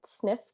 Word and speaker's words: SNF: nursing facility or snf sometimes we pronounce it sniff care and skilled nursing